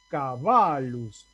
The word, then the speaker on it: caballus: La A de cabalus es larga, por lo tanto yo voy a leer, esto no se escribe así en latín, pero voy a leer así, cabalus, con un acento en esa A. Cabalus tiene la sílaba del medio, la penúltima, larga, porque la A está seguida de dos consonantes.